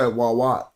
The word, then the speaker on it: Wawat: But it's spelled different. But this makes you say the sound wa. This makes you say a wa. So we say wawat. Wawat, that's the T.